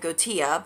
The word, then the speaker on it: Goetia: I know some people pronounce it Gotia, but I think it's Goetia, I think.